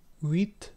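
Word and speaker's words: huit: In some cases, an orthographic H was added to disambiguate the V and semi-vowel V pronunciations before the introduction of the distinction between the letters V and U. Uit, spelled H-U-I-T, from uit, ultimately from Latin octo.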